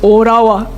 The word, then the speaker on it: Ottawa: J'ai compris que Ottawa, vous ne prononcez pas le temps, c'est Orawa.